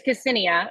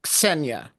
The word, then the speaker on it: Ksenia: It's Ksenia. Yeah, so but pronounce it as one consonant, Ksenia. Ksenia. Ksenia.